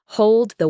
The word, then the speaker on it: hold the: The the D at the end of hold is often not fully pronounced.